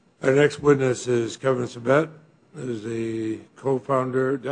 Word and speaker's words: Sabet: Our next witness is Kevin Sabet, who is the co-founder, did I pronounce that correctly?